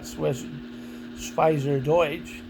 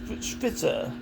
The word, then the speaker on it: Schweizerdeutsch: Swiss German is more like Schwitzer or Schweizerdeutsch or Schweizerdeutsch.